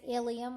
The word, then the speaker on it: ilium: pronounced hemophilia or hemophilia some terms that are spelled differently are pronounced the same for example iliam which means hipbone is pronounced the same as ilium which means the small intestine so you have to